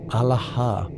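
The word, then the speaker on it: ܐܠܗܐ: Alaha is pronounced Alaha with equal emphasis on all three syllables and a strong aspirated H at the end. The sound starts in the belly, rises through the chest, and releases through the mouth with that final breath.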